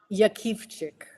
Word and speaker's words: Jakiwczyk: So, there's 50 variations, but it's pronounced Yak Chick.